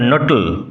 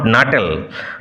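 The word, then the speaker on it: Nuttel: My aunt will be down presently mister নটল। উচ্চারণ বানান লক্ষ্য করো, নট নাটেল, নটল বটলের মতো উচ্চারণ হবে।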